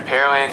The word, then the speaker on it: Pearland: moosa stadium here in pearland texas there are a lot of people curious about the pronunciation pear land the land where they grow pears it's not where they have pearls there's no lake or